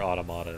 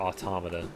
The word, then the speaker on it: Automata: I'm having a lot of fun with it, but I also cannot wait until I play Nier Automata again. Or Automata, if you want to say it correctly.